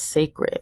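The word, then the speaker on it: Cécred: recently came out with though it is spelled that way Beyonce does pronounce it as sacred for people that may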